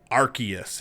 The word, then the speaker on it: Arceus: nintendo switch pokemon legends arceus is it arceus arceus is it a hard c it's a soft sea okay um yeah so